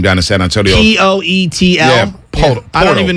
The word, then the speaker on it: Poeltl: Poetl. Yeah, Podol. I don't even know how to pronounce it. Jakob Poeltl. Yeah. Jakob Poeltl. But there's no R in it, but it's pronounced with an R?